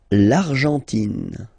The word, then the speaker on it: Argentine: L'Argentine. Okay, so you've got this nasal here. En, l'argent, and then tin, tin. Don't pronounce the final E. It just gives you the pronunciation of the N.